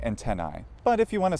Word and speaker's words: antennae: antennae and 10i well this is spelled AE in Latin antennae I I sounds more like I so should we say antennae well if you want to be consistent probably we should use how that vowel Changed by the time Modern English came around which would be more like an e sound you know we say